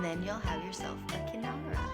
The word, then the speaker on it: kinara: And then you'll have yourself a kinara. Kinara.